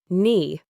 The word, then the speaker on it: knee: disappears in the pronunciation silent K when followed by N. Knee. You only hear knee. No, you only hear now. Knife. You only hear knife. Knock. You only hear knock.